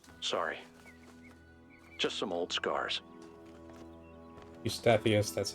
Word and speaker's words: Eustathius: Eustathius, that's how it's pronounced.